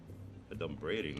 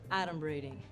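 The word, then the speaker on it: adumbrating: 38 points for me a dum braiding that's not even a word first of all it's pronounced adom braing and it means pretending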